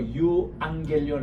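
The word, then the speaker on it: εὐαγγέλιον: 디프 th 그이 죽음으로 유앙겔리온 할 때게 감마가 감마를 치면은요 앞에가 앙이란 발음이 나와요 유앙겔리온 또합시다 유앙겔리온 유앙겔리온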